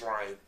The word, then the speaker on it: Rian: Oh, is that how you say it? Actually, it is Ryan.